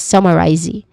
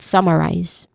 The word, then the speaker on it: summarize: So we do not say it is summarizy but summarize. Okay, summarize with clear stress on the first syllable.